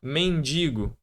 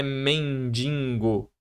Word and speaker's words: mendigo: Isso aqui, ó, mendigo é o correto, não é mendingo.